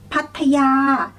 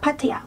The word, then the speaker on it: Pattaya: The next one is Pattaya, Pattaya. So basically you guys can pronounce this one pretty much correctly, like Pattaya, Pattaya, Pattaya. So it's easy for you guys.